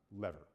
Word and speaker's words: LVR: okay something known as loss versus rebalancing or lvr which most people pronounce as lever okay so let me